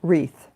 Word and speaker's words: wreath: Some words you can put an invisible W in front of, if I could only speak, an invisible W in front of, like the word wreath, okay, W-R-E-A-T-H.